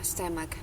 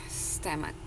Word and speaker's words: stomach: Ya, jadi bacanya itu stomach, stomach. Ya, jadi huruf E-nya itu E yang halus, kan ada dua ya, E yang kasar sama E yang halus, jadi bacanya stomach gitu.